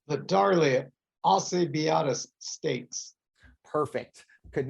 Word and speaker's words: Alcibiades: How do we pronounce the name of this stakes? It's the Darley Alcibiades Stakes.